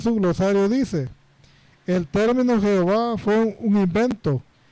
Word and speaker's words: Jehová: Recordemos que la letra J en el hebreo antiguo no existe. Aquí se indica que J en vez de la H por la pronunciación en realidad.